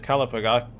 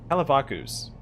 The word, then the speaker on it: Kalavakus: All right, aspect of Kalavigga Kalavigga Kalavakus. There we go. I was adding an extra syllable there.